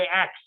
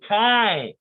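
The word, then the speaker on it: chi: to say it right most students say X but she said Ty yes hi c-h-i and it looks like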